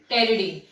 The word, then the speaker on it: pteridine: So pyrimidine plus pyrazine gives pteridine. P is silent, okay? Friends, P is silent, pteridine.